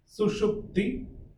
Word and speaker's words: Sushupti: Ataha Sushupti. So first one is just S. Sa. The second one is SH. Sha. So Sushupti.